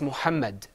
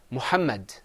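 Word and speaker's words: مُحَمَّدٌ: without without terrine it's Mohammed with penguin it's let's say that mohammed mohammed el mohammed you see there that extra line it adds an extra known sound at the end listen very carefully Mohammed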